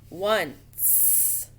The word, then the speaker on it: once: Sounds like it should start with a W. But you know, if I took that C out, that says 1, the number 1, right? One. Add the C, that's that soft C followed by an E. Once. So it's 1 with that C in there.